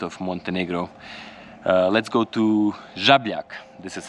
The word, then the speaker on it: Žabljak: We arrived in Žabljak, or how I heard yesterday on the mountain, how the English pronounce it, Zabaljak. So guys, it's Žabljak. So we just parked our car here.